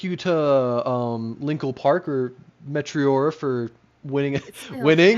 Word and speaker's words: Meteora: Thank you to Linkle Park or METEORA for winning. Still winning.